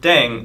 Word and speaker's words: 땡: The pronunciation of 땡 is similar to thang, which is the slang of thing in English.